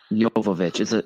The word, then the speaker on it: Jovovich: Jovovich is a soft J.